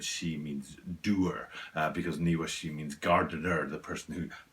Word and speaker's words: Niwashi: can let's start with the name niwa shi and i'm saying it in those two house because in japanese it's actually two kanji that's how you say japanese